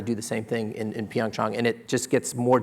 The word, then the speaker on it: PyeongChang: to track their road starting from now until PyeongChang is proper pronunciation.